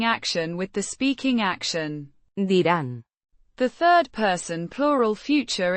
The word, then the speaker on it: dirán: Dirán. The third person plural future indicative form of the verb. Decir. Meaning, to say, or, to tell. Pronounced. Dirán. With a soft D. and a slightly rolled R.